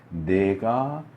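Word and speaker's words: נגע: 이게 이제 히브리로는 이제 2개의 단어가 같이 사용되는 건데 네가 우리 한글에 내가, 너가 할 때 내가 하는 그거랑 발음이 똑같아요. 내가 짜라 아트라고 하는 단어예요.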